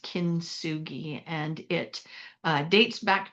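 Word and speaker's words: kintsugi: It's this art form is called kinsugi and it's spelled k i n t s u g i pronounced kinsugi and it uh dates back to the 15th century.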